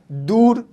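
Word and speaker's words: دور: ठीक, अगर लफ्ज के बीच में ए यू की साउंड आए, औ की साउंड आए, तो इसका इस्तेमाल होगा दूर, दौर, दाल वाव रे, दौर, दौर, दौर का इंग्लिश मीनिंग होता है पीरियड, पीरियड।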